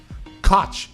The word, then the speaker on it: Koch: Koch would be the accurate way if you wanted to actually say that.